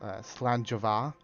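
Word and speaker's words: Slàinte mhath: There's a saying in that people in like Scotland use a lot called that's Slanjava, and it does not look it's spelled anything like that. Slanjava. You would expect at the end it would be like V-A or something, Va, but it's like M-H-A-T-H.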